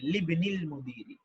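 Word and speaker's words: لِابْنِ المُدِيرِ: বসেছে, লিবনিল মুদিরি, এভাবে লিবনিল মুদিরি বা লি ইবনিল মুদিরি মূলত এরকম, কিন্তু লামটা বাকে ধরে ফেলে, লিবনিল উচ্চারণটা এরকম হবে লিবনিল মুদিরি।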